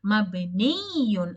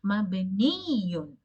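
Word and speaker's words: مبنيٌّ: Mabniyun. And whenever you pronounce this word, you have to stress at the end because of the two yas. Mabniyun.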